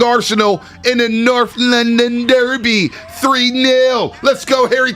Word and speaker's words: Derby: like a little trip not the kentucky darby it's the kentucky derby come on kentucky derby look like a great time out there i'm saying it's an english thing you pronounce it in the english way it's the dobby uh from the 408